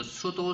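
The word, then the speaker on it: pseudo: 그리고 sudo select라고 해서요. p가요. 묵음으로 발음되네요.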